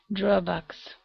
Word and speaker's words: drawbacks: good okay right here instead of Dr with an ow sound with the a w this is draw drawbacks drawbacks uhhuh okay one more